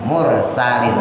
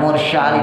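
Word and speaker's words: مرسلين: Mur salin. Sinnya tipis, taruh di bawah lidahnya. Sa. Mursa, taruh di bawah. Jangan di atas, jangan mursyalin, jangan taruh di bawah.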